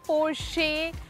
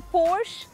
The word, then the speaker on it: Porsche: बट इसका नाम कोई कहता है पोर्शे, कोई कहता है पोर्श, because the spelling is PORSCHE, but it's neither Porsche, it's nor Porsche, it's actually Porsche. It's Porsche.